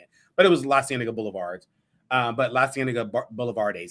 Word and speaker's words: La Cienega Boulevard: a Facebook person called La Cienega Boulevardes. That's how I was pronouncing it, but it was La Cienega Boulevards. But La Cienega Boulevardes, that's how I was pronouncing it last week.